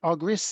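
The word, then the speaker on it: Argyris: know all things are coming I could ever pronounce Chris's surname agris is it that's right and it's double Loop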